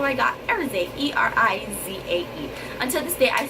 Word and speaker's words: Erizae: I came up with how I wanted to spell it, which is E-R-I-Z-A-E. He was not feeling it because he was like, I don't want it to be Erizae. But I was like, Elizae, Erizae.